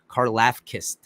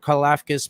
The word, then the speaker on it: Karlaftis: I can't say it because I heard it pronounced, but it's not the actual pronunciation. There's like a Greek sound to it. Karlaftis.